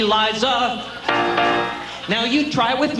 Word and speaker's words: Liza: always have to say, it's Liza with a Z, not Lisa with an S. Cause Lisa with an S goes not Z. It's Z instead of S, I instead of Lee. It's simple as can be, see Liza.